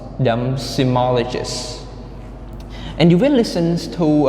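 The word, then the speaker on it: seismologists: the first word is semologists semologists okay semologists sigma so there are four syllables and the stress is on the third one symmologist simologist and the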